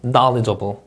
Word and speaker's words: knowledgeable: remind, exceptional 이 음절 강세, knowledgeable 이 음절 강세, assistance. 자, 그리고 S 발음도 좀 말씀드리고 싶은데 여러분 S 발음은 우리나라